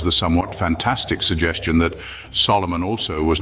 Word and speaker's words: Solomon: This interpretation may be fanciful, but it seems true that the king's compatriots called him Solomon, pronouncing his name as an amphibrach, not as a dactyl, as we do.